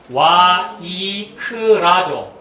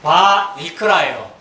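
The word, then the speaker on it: וַיִּקְרָא: 알파벳대로 읽으면 와이크라죠. 영어는 웨이크인데 와이크라잖아요. 이 와가 바 발음 나거든요. 바르샤바가 와르샤와잖아요. 와가 바 발음 나거든요. 그러니까 바이크라예요.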